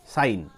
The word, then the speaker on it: sin: ধরো আমরা সবাই জানি SIN, অ্যাকচুয়ালি উচ্চারণ হয় সিন, কিন্তু সিন নয়, আমরা এটা উচ্চারণ করব কি, উচ্চারণ কিন্তু আমরা করব সাইন।